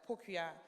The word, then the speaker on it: Pokuva: And my surname is Pokuya, but it's spelled Pokuva.